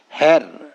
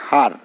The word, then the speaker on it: her: এন হ্যান হয় কিন্তু যখন ই বর্ণটির পরে একটি আর আসে তখন এই ই বর্ণটির উচ্চারণ হয়ে যায় আ যার ফলে এইচ ই